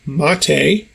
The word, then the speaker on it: MATE: the desktop environment is mate' rhymes with latte and the window manager